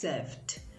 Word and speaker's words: served: with ed endings so say first come first served and not first come first save number eight which is